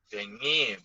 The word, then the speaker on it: dengue: How to read, Kak Dokter, ini yang tulisannya dengue. Dengi bacanya.